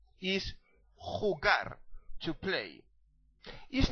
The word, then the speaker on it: jugar: a noun okay now you need to clear your throat because you need to make that sound when you pronounce the letter J in Spanish so is not jugar is hugar to play is not